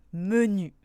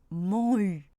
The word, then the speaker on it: menu: Et oui, je suis sûre que vous avez tous pu lire menu. Je ne prononce évidemment pas man-u.